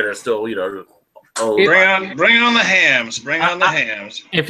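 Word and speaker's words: Hamm's: But they're still, bring on the hams. Bring on the hams. If you went, baby hams, woo! Isn't it? I'm pretty sure it's Hams. It's Hams.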